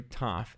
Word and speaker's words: Tet: Tet is pronounced identical to Taf in the modern pronunciation, just with a normal T sound. However, in biblical, it's actually a pharyngalized T, Ta.